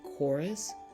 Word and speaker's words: chorus: C it's usually silent you have words like chorus or Echo you don't hear the h you mainly hear the C here are some more